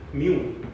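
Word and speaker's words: μ: म्यू से मतलब इसको ऐसे रिप्रेजेंट करते हैं, म्यू पढ़ेंगे अगर प्रोनाउंस करेंगे म्यू से रिप्रेजेंट करते हैं।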